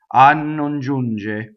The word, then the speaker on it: non giunge: So we already know that a is a strong monosyllable, so it causes that doubling, right? So nnon, nnon giunge. So it's just a little bit, right?